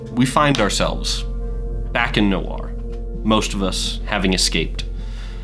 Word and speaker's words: Knoware: We all called it nowhere, but it's technically Noir.